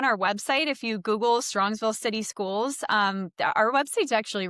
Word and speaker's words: Strongsville: I was saying Strongville and it's an S. So Oh, it's yeah. Strongsville.